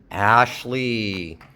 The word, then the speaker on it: Ashley: Here's the space between the syllables. We'll put the stress here. Is it possible that the sh is going to move to the next syllable? Ashley. Is that possible? Ashley. I'm not sure.